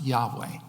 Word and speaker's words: Yahweh: And so, we think that it's pronounced Yahweh. When these people were first imported into the land, they started worshiping, they weren't worshiping God at first, but then they started worshiping Yahweh, the Lord.